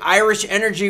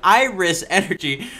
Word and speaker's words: Iris Energy: Shares of Irish Energy, god damn it, Klaus. Shares of Iris, I'll say it right, shares of Iris Energy were up Tuesday after the company said it